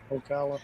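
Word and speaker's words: Ocala: Florida kala kala how do you say it Okala yeah and it is like a diesel but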